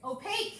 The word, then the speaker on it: opaque: pink with cake yes say it again okay opaque I don't think it rhymes with cake so for paint will actually be if you use acrylic paint it'll be opaque which means you can't see through it something